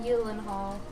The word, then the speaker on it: Gyllenhaal: Also, apparently it's pronounced Gyllenhaal.